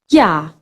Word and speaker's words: ja: And the opposite of nein, ja. J in German always pronounced like English Y.